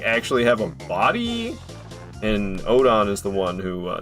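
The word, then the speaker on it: Oedon: I always try to pronounce it differently than Odin. Cuz you say you say it like Odin, people are going to think you're talking about like the Norse god Odin.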